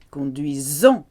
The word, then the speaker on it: conduisons: Nous conduisons, S between two vowels, Z sound.